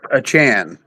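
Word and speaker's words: Achane: give me okay well that's how you pronounce pronounced a Chan yeah CH if anybody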